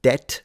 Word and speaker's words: debt: And that's why you don't pronounce the B in there, because it wasn't present when the pronunciation locked into the way it is today.